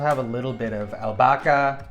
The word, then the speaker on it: albahaca: I also have a little bit of albahaca. The H is silent here in Spain.